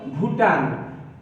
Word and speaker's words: Bhutan: এরপরে রয়েছে B, এই B is for ভুটান, BHUTAN, ভুটান। এখানে আমরা দেখতে পাচ্ছি যে সাধারণত ভয়ের জন্য ভি হয়, কিন্তু এখানে বি এর পরে এইচ রয়েছে, এজন্য এটা ভয়ের মতো উচ্চারণ হবে।